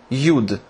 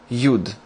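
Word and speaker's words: יוד: next is UD very easy and very small pronounced yud the equivalent is y y yud now this is a very special letter and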